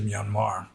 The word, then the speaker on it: Myanmar: of bugged me because there shouldn't be an R at the end. It's pronounced Myanmar, but they just put an R at the end to like signify that it's a long A, Myanmar.